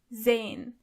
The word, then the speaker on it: sehen: To see is sehen. Sehen. As you can see, the letter S is not pronounced as S, but more like Z. So you say sehen.